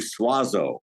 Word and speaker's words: Suozzo: going to say suazo I'm sure I messed it out that's exactly how my family has anglicized it if we were Italian